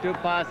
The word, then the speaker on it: Dupas: And Dupas, by the way, likes his name pronounced Dupas.